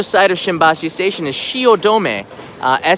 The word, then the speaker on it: Shiodome: of Shimbashi station is Shiodome a Shi OD ome looks like dome but it's pronounced domain and that used to